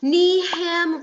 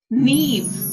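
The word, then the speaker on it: Niamh: neif like leaf no neve like nave can i ask you to please confirm that uh spelling ma'am so it's n like neve i like the second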